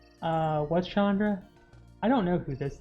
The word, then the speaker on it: Chandra: is an indian name it's actually i've heard pronounced closer to chandra but uh unfortunately us dirty american ends have you know i think pretty much everybody's given up that it's gonna be chandra but i think i think the actual indian name is pronounced closer to chandra or chandra even i mean we've